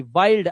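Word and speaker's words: wild: अब आपके पास ये भी जवाब है कि इसको यूं इसलिए पढ़ा जाता है, जब आई के बाद एनडी या एलडी आएगा तो आई का उच्चारण आई ही करना, जैसे माइंड आई के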